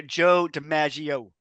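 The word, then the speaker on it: DiMaggio: but you got but you gotta say Joe dagio right it's like he does such an emphasis on the last syllable uh but like Harry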